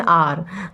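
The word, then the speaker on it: hour: नहीं ठीक कि नहीं एच साइलेंट होता है हम लोग क्या बोलते हैं आर I waited at the station for एन आर तो आर जो होता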